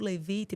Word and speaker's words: Levite: que essa Clínica faz especificamente maravilha o Instituto levite pegando até um pouquinho da da etimologia e Pô você até soube pronunciar corretamente que Geralmente a galera não pronuncia